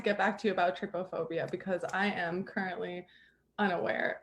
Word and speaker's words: trypophobia: It says that it's like the word try, T-R-Y, P-O phobia.